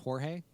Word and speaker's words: Jorge: to be clear uh it's pronounced jorge jorge that's